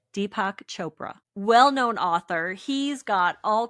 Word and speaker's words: Deepak Chopra: Deepac Chopra, well-known author.